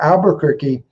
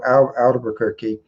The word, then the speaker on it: Albuquerque: a liberty town there called albuquerque and it had an r in the in the second syllable the word albert okay and then so that's it that's the name of the town the spanish word has the letter r in it and the duke of